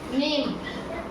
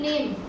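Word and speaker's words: name: अगला देखो एन ए एम ई नेम एन ए एम ई नेम नेम में इ लास्ट में आया है इसलिए इ का उच्चारण नहीं करेंगे।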